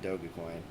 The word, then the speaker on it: Dogecoin: and paid for with dogecoin or dogecoin however you pronounce i pronounce it doga coin because doga is a japanese shiba inu and thus you need